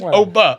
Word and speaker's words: Oba: I did say that Obie Femi was throwing Breaker over the Hold on. Hold on. You can't even say his name, right? It doesn't count. It's Oba. Oba.